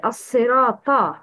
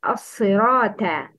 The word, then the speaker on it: الصراط: It's assirata. Please repeat. Assirata. The wrong is assirata. Pronounce sin and ta with a light tone.